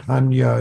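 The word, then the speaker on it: 般若: Prajna, Sanskrit, Hanya is, I think that's the Chinese-Japanese way of, a Sino-Japanese way of pronouncing that word.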